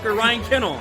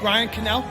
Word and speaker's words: Ryan Cannell: the say my name right ryan kennel ryan cannell first person to 2k